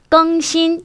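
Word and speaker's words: 更新: 그러니까 발음하실 때 또 유의하실 게 更新 할 때 껑은요 일성으로 읽어줍니다. 우리가 부사로 훨씬 뭐뭐뭐 하다라고 할 때는 사성으로 껑이라고 읽죠. 하지만 요거를 혁신하다, 새롭게 바꾸다라고 할 때는 껑신, 일성 발음해 주셔야 하고요.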